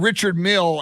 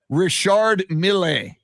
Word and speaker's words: Richard Mille: yeah and it's funny patrick said richard mill and bubble apparently it's richard milley so it's like it's not you know not the pronunciation we would even know because we're not into